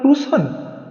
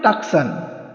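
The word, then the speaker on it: Tucson: লোকটি কর্কশ গলায় বলল টুসন সেটা আবার কোথায় হেল ডমেন্টস প্লেস আমি একবার বানান করে বললম সি এস ও এন অনেকে বলে টাকসান আসলে ওটা টুসন উচ্চারণ হবে আরিজোনা স্টেটে লোকটি বলল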